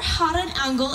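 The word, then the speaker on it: Gouden Engel: of our organ is the golden angel or hot an angle as it is pronounced in Dutch and it gets its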